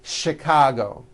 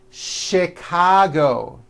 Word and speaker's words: Chicago: And to make things even more difficult, there are a couple of words that are spelled with CH and are also pronounced with the sh sound. Words like chef and the city of Chicago.